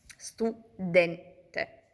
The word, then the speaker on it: studente: trova sulla penultima sillaba, come per esempio nella parola studente, stuente. La penultima sillaba den finisce in una consonante, in una n e quindi ehm l'accento tonico si trova su den studente.